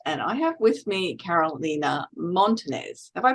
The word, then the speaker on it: Carolina Montanez: I am Janine Bosper, your host, and I have with me Carolina Montenez. Have I pronounced that correctly, Carolina?